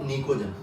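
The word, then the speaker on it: pnictogen: क्या बोलूंगा, निकोजन, है ना बेटा। ये पी साइलेंट है, क्या होगा बेटा, ये निकोजन।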